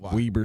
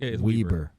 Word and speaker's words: Weber: reasons that's the reason Weaver State really weber it's all kind of